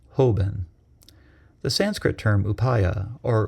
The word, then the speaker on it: Hoben: In Japanese, the Chinese characters chosen to translate it are pronounced Hoben.